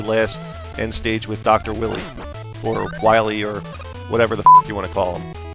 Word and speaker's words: Wily: It's Dr. Willy, I believe. I've heard it pronounced Dr. Wily also, but I've always thought of it as Dr. Willy.